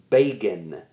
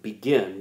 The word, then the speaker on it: Begin: Prime Minister okay uh a man named manakum bean manakum bean it looks like begin but it's pronounced Bean um this is is the guy